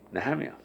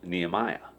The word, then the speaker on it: Nehemiah: of times will be placing the accent and the wrong syllable you know like the name Nehemia you know in English it's commonly pronounced Nehemiah but it's actually not having a lot of